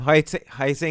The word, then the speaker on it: Huizinga: Huizinga. Wayne Huizinga.